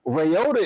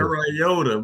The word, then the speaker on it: Ryota: He about as good as your pronunciation of his name. Yo, exactly. I'm thinking about said Ryota, bro. It's not Toyota, fam.